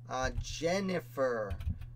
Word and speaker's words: Jennifer: Jennifer. I'm going to spell it the way you did.